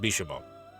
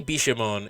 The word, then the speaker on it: Bishamon: I think it's actually pronounced Bishamon. Even though it has 10 at the end of it, I think you don't pronounce the 10.